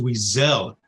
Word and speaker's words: Weasel: And my name is Weasel. First part rhymes with squeeze.